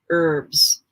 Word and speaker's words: herbs: herbs in english actually you don't pronounce the h when you pronounce the word herbs that's the correct way